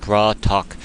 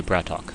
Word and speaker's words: BratOk: and bra talk so even though it's spelled like brat okay apparently it's a Russian for brother so that's what people have been telling me so even though it says brat and then okay it's really braat talk or bra talk so bra Talk versus